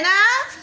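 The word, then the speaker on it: know: এখানে কেটা কিন্তু উচ্চারণ না হয়েছে, হওয়ার তো দরকার ছিল কে নো, তাই না?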